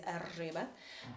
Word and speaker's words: Erzsébet: Elizabeth in Hungarian is Erzsébet, and the pronunciation is very harsh, like the Hungarian language, and Erzse is the nickname of hers.